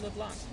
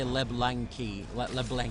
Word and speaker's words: LeBlanc: And Floating Toxins is LeBlanc. Yeah. Well, you did good on the LeBlanc pronunciation. I've heard some people say LeBlancy. I was like, what the hell?